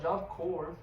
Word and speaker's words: Job Corps: So it's it's actually pronounced Job Corps, but corpse is a dead body.